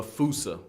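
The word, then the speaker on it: fossa: The Fousea. Although, with its spelling, I'm pretty sure it's actually fauca.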